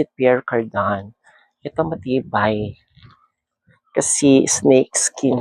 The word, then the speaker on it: Pierre Cardin: Pero they pronounce it Pierre Cardin.